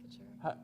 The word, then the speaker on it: Couture: Yeah, I just say couture. How do you say it though? I usually say co and then chur. Couture. Yeah.